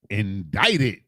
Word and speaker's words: indicted: something is not right is there not a c in this word and the C makes the what sound the k sound but yet you're telling me that this word is indicted so in the middle of this word there's a c and it does nothing so this word pause